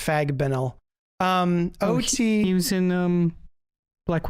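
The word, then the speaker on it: Fagbenle: Fabinel, I can't believe it's pronounced Fagbenel.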